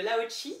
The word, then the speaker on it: LaHoChi: comme ça j'ai VI alors c'est le laochi ah pardon d'accord mais c'est pas grave il y en a beaucoup qui disent chi on fait de Chi aussi mais le vrai la vraie prononciation c'est du laoi donc le laochi en